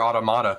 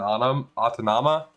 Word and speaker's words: Automata: could not pronounce near automata correctly for the life of me I kept saying aut auton autama when it's near automata automata not autama um anyways we're at